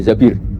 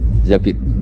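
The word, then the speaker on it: الزَّبِير: Kemudian saya nikah sama Abdurrahman bin Zabir. Di hadis ini bukan bacanya bukan Zubair tapi Zabir, Abdurrahman bin Zabir.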